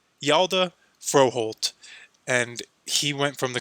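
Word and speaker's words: Hjalte Froholdt: the New England Patriots here and this is pronounced yalda froholt and he went from the Cleveland Browns to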